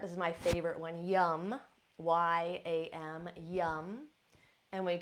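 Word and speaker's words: yam: It's spelled R-A-M, but we pronounce it rum, rum. Now at the heart, this is my favorite one, yum, Y-A-M, yum.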